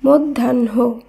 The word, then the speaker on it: মধ্যাহ্ন: একইভাবে ম ধয় জফলা আকার হয় দন্ত ন শব্দটির উচ্চারণ হবে মধ্যাহ্ন, মধ্যাহ্ন।